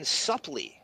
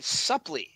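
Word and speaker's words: Suplee: she gets wrong the actor's name is Ethan suley not Embry and she keeps saying his name wrong I think you should know the actors who you did the scene with it's Ethan Supply he's a Supple bit of protoplasm on him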